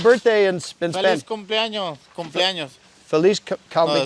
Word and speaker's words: cumpleaños: Cumpleaños.